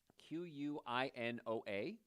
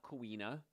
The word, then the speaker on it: quinoa: you feel full quinoa q-u-i-n-o-a it's not coina it's quinoa k-e-e-n-o-a it's kind of if you had to spell it phonetically but quinoa is great